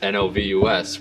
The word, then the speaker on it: NOVUS: Actually, most people pronounce novus the wrong way, which Technically, it's the right way, actually. It's technically the right way because it's Latin for fresh and new beginnings.